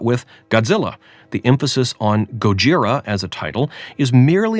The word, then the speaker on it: ゴジラ: If we were proper and careful about getting the inflection right, Gojira, maybe that would be worthwhile. But to stand on some kind of principle and insist on Gojira instead of Godzilla is just a pretentious kind of pointlessness.